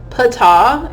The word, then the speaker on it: Ptah: Ptah is how you pronunciate it, okay?